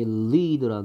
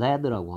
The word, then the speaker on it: lead: 그다음에 lead라는 단어가 똑같 스펠링 똑같은데 얘 스펠 발음을 lead라고 하면 뭐 발음 기호가 이렇게 될 텐데 lead라고 읽으면 이거는 원자 기호로 Pb입니다. Pb 뭐예요? Pb 나비죠. 납. lead라고 읽으면 이끌다고요. lead라고 읽으면 납입니다.